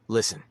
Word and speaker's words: Listen: Listen que significa ouvir na sua pronúncia a letra T não é falada ficando apenas com o som de Listen o nome para este